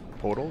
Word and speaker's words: Podoll: You pronounce that Podoll? Podoll, yeah.